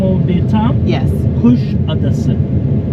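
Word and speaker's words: Kuşadası: Kusadasi. Kusadasi.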